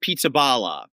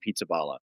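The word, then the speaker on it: Pizzaballa: a funny sounding name pizzaala. I'm not even sure if that's how you pronounce it but it is p i zza b a l l a. So it's pizzaala.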